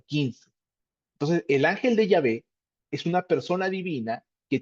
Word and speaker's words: Yahvé: Nosotros estamos mencionando Yahvé en vez de Jehová, porque Yahvé es la pronunciación más exacta al original hebreo.